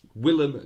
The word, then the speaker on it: Willem: I've probably butchered it, but oh no, it's not William, is it? It's Willem Dafoe. I think that's right.